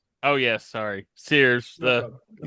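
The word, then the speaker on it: Ceres: Uh, Boo, let's not forget it's pronounced Sears. Oh, yes. Sorry, Sears.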